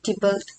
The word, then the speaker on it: Tybalt: Romeo kill, यहाँ पे बताओ, Romeo kill स्पेलिंग TITYBALT, टिबल्ट हम बोल सकते हैं। प्रोनाउंसिएशन थोड़ा स्लाइटली डिफरेंट होगा।